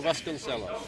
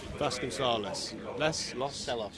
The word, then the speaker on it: Vasconcelos: the live stream about my pronunciation, Vasconcelos. Can you please correct me? That's one for Lids to take. Good timing. He's bottled it again, ladies and gentlemen. Ricardo Vasconcelos. Vasconcelos. Celos.